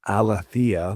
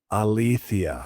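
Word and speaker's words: ἀλήθεια: So when I looked up uh I just took you know altha the way I used to say it and I I listened to the actual pronunciation and maybe it's a certain form of Greek maybe it's not like you know through every uh form of Greek um pronunciation but the one that I heard was althia.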